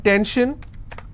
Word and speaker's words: tension: s-i-o-n tension pension so how many syllables in tension two ten shin i will stress on ten if i have pension